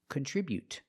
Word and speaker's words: contribute: But the stop T is more natural and more common. Contribute. Just stop the air with the tongue and don't release the T. Contribute. Remember to put the stress on the second syllable.